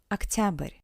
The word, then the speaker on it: октябрь: Октябрь, октябрь. Remember that the unstressed O sounds as A.